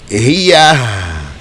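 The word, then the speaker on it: هِيَهْ: So then that enables you to say hiya. You have to pronounce the ha too.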